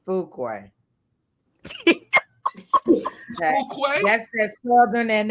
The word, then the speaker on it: Fuqua: It's Fuqua.